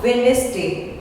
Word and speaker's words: Wednesday: See you on Wednesday. D is silent.